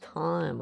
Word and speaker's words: thyme: Okay, it's pronounced time without the H, huh?